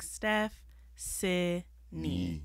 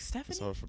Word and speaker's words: Stephcynie: pronounce your name again it's s-t-e-p-h-c-y-n-i-e and you just think like steph c knee yeah i have a